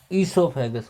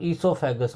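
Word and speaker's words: esophagus: फिर इसके पास दूसरा ऑर्गन होगा, उसको कहते हैं ईसोफेगस। ओ साइलेंट होता है यहाँ पर, ईसोफेगस को ही कहा जाता है फूड पाइप।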